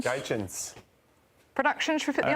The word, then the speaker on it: Gaetjens: Is it Gaetjens? Gaetjens.